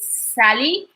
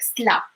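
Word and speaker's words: سلا: say like من مدينة Sally, even though we do not like literally pronounce it as Sally, we would say like Sla.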